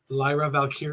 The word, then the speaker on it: Lyra Valkyria: Green uh Lyra Lyra VY say it right Lyra valkyria no not Chelsea Green did you see did